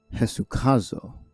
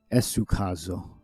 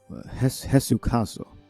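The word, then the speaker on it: ἡσυχάζω: We got Eta is pronounced with an H. Jesucazo. I would have said Esucazo. Jesucazo, which means to rest,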